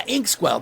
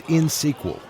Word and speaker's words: INxSQL: Harry, it's insql. You don't pronounce the X.